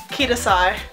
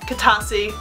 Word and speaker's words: Kitasai: Basically, what I'm trying to get at is my name is Kitasai, not Kitasi, not some other, I can't think of anything else people say, but Kitasai, pronounced like this.